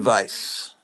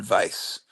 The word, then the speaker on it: Weiss: was also supposed alen Vice Alan Weiss well it's it's the W in in German is pronounced V on Vice very nice artwork there